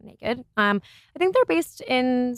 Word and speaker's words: NA-KD: It's NA-KD, so naked.